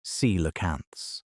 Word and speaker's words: coelacanths: The rivers of the were full of coelacanths, pronounced sea-la-canths, an ancient lobe-finned fish that still exists today in a few isolated populations near the Comoros Islands and Indonesia.